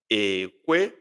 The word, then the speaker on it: ekwe: It sounds ekwe, ekwe, ekwe. That is agree. Obrona okwe, if you agree. O ekwe. Obrona ha ekwe, ekwe. Low, high.